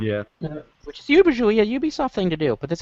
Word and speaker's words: Ubisoft: first word uh ubisoft it's pronounced ubisoft santorum i say on a regular basis i don't care about pronunciation all right you guys heard satoru iwata with that ubisoft guy on stage pronounce it ubi soft over and over it was